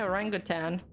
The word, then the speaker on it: orangutan: Spanish by the wordan you do want to stress on the second syllable I got this syllable